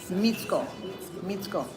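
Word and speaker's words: Мицко: I just want to tell you that the name in the last 2 lines of that 3rd verse is Mitsko. That C is pronounced as a tsa. Mitsko.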